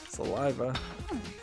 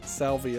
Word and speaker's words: Saliva: Saliva. I keep wanting to accidentally pronounce it as Salvi Island.